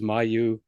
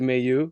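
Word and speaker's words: Mailloux: the the French media in particular it was mayu because m ai ll like it's you know the French pronunciation is my but I did ask him personally uh they pronounce it Mayu.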